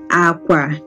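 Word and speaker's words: àkwà: If you listen to the way you pronounce it, it's low. That means it is low, low. Okay, L, L, low, low. Okay, they are both low pitch tone.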